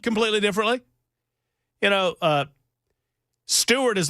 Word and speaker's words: Steuart: I mean, you spell and they're spelled differently is what I'm trying to say, but they're pronounced the same.